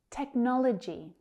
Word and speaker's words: technology: Technology, technology. That second syllable is stressed.